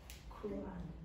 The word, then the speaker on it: chorale: Chorale. Avec un H. Le CH, comme dans le chronomètre.